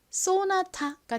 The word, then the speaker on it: 쏘나타: 볼까요 어떻게 읽으면 될까요 S 가장 앞에 왔고 뒤에 자음이 아니라 모음이 왔죠 이럴 때는 보통 S 좀 세게 발음이납니다 거의 쌍시 5처럼는 한국식으로 읽을 때라고 읽죠는 니은 소리는 보통 한 곡식으로 아 소리로 읽고요는 티 소리 또 a 아 소리로 읽어서 쏘나타가 됩니다 쏘나타 쏘나타는 뭐 모자르트 소나타처럼